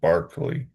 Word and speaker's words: Berkeley: It's spelled Berkeley but he was Irish and it said Barkley.